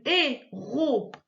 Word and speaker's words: héroïne: en deux ici, une héroïne, voilà, c'est carrément coupé plein de fois. Héroïne, c'est parce que le i, il a 2 petits points en dessus.